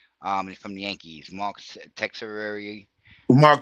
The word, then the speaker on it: Teixeira: Mark Texeira. Mark Uh, Teixeira.